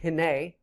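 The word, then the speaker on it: הִנֵּה: below that we have another particle that is pronounced hene and the King James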